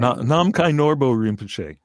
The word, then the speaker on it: Namkhai Norbu Rinpoche: Going to let you pronounce the name. Namkhai Norbu Rinpoche.